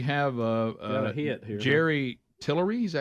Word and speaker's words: Jerry Tillery: Jerry Tillery.